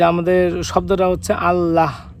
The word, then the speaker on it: আল্লাহ: যে আমাদের শব্দটা হচ্ছে আল্লাহ শেষে হ দিয়ে উচ্চারণ করতে হয় কিন্তু আমরা মাঝে মাঝে এখানে হ টা বাদ দিয়ে আল্লাহ এভাবে উচ্চারণ করি কাজেই